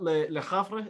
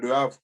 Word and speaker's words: Le Havre: Now it's in Miami, I think, in the MLS, as well as Diarra at Le Havre. Is that how it's pronounced? La Sana Diarra, Le Havre. Yeah. Yeah. Yeah, Le Havre.